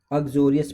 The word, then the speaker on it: uxorious: अग्जोरियस पढ़ते हैं इस वर्ड को, UXORIOUS, अग्जोरियस पढ़ते हैं इसको, प्रोनाउंसिएशन अग्जोरियस होता है।